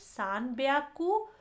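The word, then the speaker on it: 三百: तो यहाँ हम देख रहे हैं 300, 600 और 800 में प्रोनाउंसिएशन हम जब बोलते हैं ह्याकू के बदला यहाँ ब्याकू हो जाता है, यहाँ 600 में प्याकू हो जाता है और 800 में प्याकू हो जाता है।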